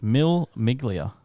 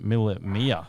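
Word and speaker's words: Mille Miglia: do i pronounce this mill miglia stand for is it a minute mile b one thousand miles or c miller to miglia james italian oh italian pronunciation miller mia thank you muff you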